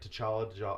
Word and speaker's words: T'Challa: T'Challa.